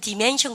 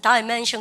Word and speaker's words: dimension: 여러분들 미국 애들은 디멘션 그러고요. 영국 애들은 다이멘션 그래요. 쌤은 좀 다이멘션 좋아하는 편입니다.